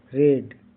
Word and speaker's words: red: RED रेड। इसके बीच में क्या है, ई है। इसका उच्चारण क्या हो रहा है, ए हो रहा है, RAD रेड।